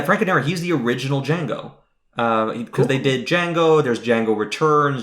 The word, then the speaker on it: Django: to pronounce it okay this D is silent that little interchange that's